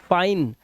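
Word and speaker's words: fine: Life फिने नहीं गलत। फाइन और लास्ट वाला इ आपको पढ़ना नहीं है।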